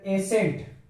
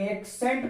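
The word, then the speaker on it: ascent: तो देखते हैं यहाँ पर लिखा हुआ है एसेंट, इसको एसेंट पढ़ते हैं, लेकिन अगर सी को अगर एक्सेंट पढ़ा जाएगा तो एक्सेंट गलत हो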